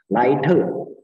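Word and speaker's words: 莱特: Ya, jadi Laite itu adalah bacaan untuk bahasa Inggrisnya adalah right ya, right bersaudara ya. Laite, Mandarinnya Laite bacanya ya.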